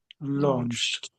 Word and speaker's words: launched: So, I would say this is one of the situations when the ED makes more of a T sound. I would say launched. Yeah, that's a T sound, isn't it? So, there's about three, maybe even four different sounds that can make the ed on the end. And that happens to be the T one, I think.